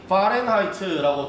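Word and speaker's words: Fahrenheit: 다음에 화씨 온도 밑에 보시면 이름이 파렌하이트라고 되어 있는, 보통 독일 계열의 사람들이 하는 발음을 하는 이 사람 이름입니다.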